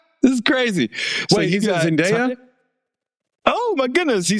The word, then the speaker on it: Zendaya: Wait, he's Zendaya?